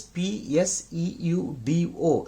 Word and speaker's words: pseudo: a bacteria named pseudomonas so where p is silent so actually the spelling is p s e u d o pseudo okay so pseudo